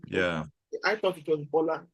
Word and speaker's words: Bola: Is it Bola, like Yoruba, Yes. or No, it's Bola, like in Lingala. We say Bola. Bola? Okay. Okay. Yeah. I thought it was Bola, like in Yoruba.